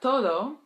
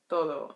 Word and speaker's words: todo: But for me, as an English speaker, pronouncing the Spanish D in this context, sometimes it gets a little soft in my mouth. Like, it comes out more like an R.